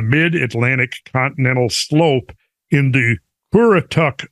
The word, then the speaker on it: Currituck: recognized on the mid-Atlantic continental slope in the Currituck Sound offshore region." I don't know if I'm pronouncing that right.